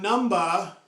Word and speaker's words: number: That's why we don't pronounce the B.